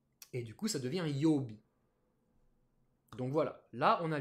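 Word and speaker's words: 曜日: qui s'écrit comme ça, ça se prononce yobi. Yo. Et là, je vous l'écris bien en katakana et en hiragana parce que yo, c'est la lecture sino-japonaise de ce kanji.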